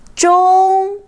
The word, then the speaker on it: 中: Here, 中 is first tone, which means middle. 中 Here is another example.